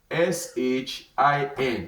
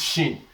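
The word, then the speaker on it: شين: So the equivalent of shin in the English language, we can say something like shoe.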